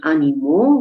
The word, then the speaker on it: animaux: The two of them sound identical, but mot in French, which I've highlighted here in red, in French means word, and therefore by spelling the word animaux with AUX is the way it's spelled in French, by spelling this now differently as MOT, it sounds exactly the same, but it draws attention